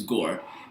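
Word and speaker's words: Gorr: I can't pronounce his name. It's Gore. Gore. I'm make sure I pronounce his name right. I want to pronounce it Gore. Gore. His name is Gore.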